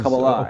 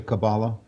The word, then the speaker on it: Kabbalah: Kabbalah is Kabbalah, okay. emphasis on the last syllable. In America, people say Kabbalah.